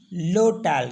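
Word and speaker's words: l'hôtel: और एच ओटी एल तो इसको पढ़ते हम लोटेल क्योंकि एस तो लडी साइलेंट होता है तो लोटेल अब हम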